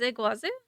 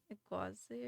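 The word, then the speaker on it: Iguazú: do you say is Iguazu Iguazu Iguazu Iguazu Falls yeah I say in like the most American Way U no yeah it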